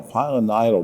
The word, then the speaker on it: pilonidal: folks at home I'm having trouble you know pronouncing it it's p i l n d a l pilonidal disease what is that well if you break